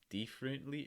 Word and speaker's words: differently: act differently differently differently so again instead of thief differently it's more diff differently what you're doing for the short eye sound if you've seen our other videos i feel like i say this all the time make sure that the sides of your tongue are touching your top teeth lower the very back